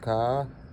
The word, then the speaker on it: К: Uppercase is uppercase ka, and lowercase is just like an uppercase but smaller, pronounced ka.